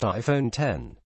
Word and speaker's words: iPhone X: just unveiled the much-anticipated iPhone X pronounced iPhone 10 it represents the next